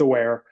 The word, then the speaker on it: AWRE: I know it's AWRE and seems like everyone is wonderers how to pronounce it. It's aware.